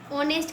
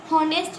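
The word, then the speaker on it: honest: है ये ठीक है अब ये एच से स्टार्ट हो रहा है लेकिन हम इसको पढ़ते क्या है ऑनेस्ट पढ़ते हैं ओ ऑनेस्ट पढ़ेंगे ठीक है होनेस्ट नहीं पढ़ रहे है पढ़ेंगे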